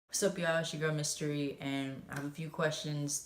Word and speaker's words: Mystory: pronounce your name well my name is pronounced mystery but it's built my